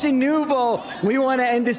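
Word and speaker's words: Nwpo: How do we say Noob? I mean, you you can hear the audience is chanting his name right now. It's Nouvo.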